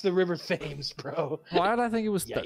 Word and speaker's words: Thames: There's one that's spelled and it's pronounced differently than the way it's spelled. I thought it was that one. What do you think? It's very freeform. It's pronounced Thames, the river Thames.